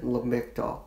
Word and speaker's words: Lamictal: I grew up taking Topamax and Lamictal. That's what it's called and pronounced.